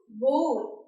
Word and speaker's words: bowl: mispronunciation of this word because this is not pronounced bowl, it is pronounced bowl. Mom, can you get me a bowl please? You forget to place me. So, B-O-W-L is pronounced bowl, not bowl.